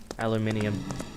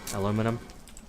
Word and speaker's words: aluminium: And yes, I say it the British way, aluminium. I think it's just easier for me to say it that way. How else would you pronounce? Aluminum.